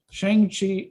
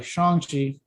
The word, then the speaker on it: Shang-Chi: i would probably say between like you know shang chi i'm sorry shanxi sorry about i've been saying it like shane